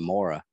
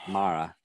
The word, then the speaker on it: Maura: how to pronounce my i was going maura like o-r-u-o-r-a he's like no it's mara i was like oh